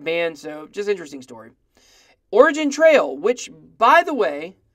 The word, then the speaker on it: Origin: Some people think they should change the name because, I understand the G in Origin is a soft G.